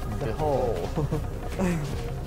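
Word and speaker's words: dhole: No, it's not a D-hole, Sam. It was a lowercase D and an H right after it. It's pronounced the hole.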